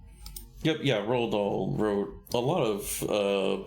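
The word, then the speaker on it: Roald Dahl: uh the the theatrical version uh the adaptation from the uh the original book from uh is it Ron Rald Doll Rald Doll.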